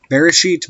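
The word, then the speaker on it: בראשית: Hebrew is written right to left, and the pronunciation of this verse is roughly Bereshit bara Elohim et Hashemayim va'et Haaretz.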